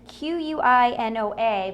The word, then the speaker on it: quinoa: it myself and like you said it's it's qu i n OA but you do pronounce it quinoa so and you find this